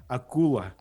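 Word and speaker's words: акула: Akula. Akula.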